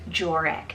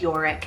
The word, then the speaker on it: Joric: strong we have jorix spell j-o-r-i-c jorick now this one I kind of created Myself by mixing a couple names together but I feel like the beginning with the J you could pronounce it as Yorick as well so joric or Yorick could totally work and this one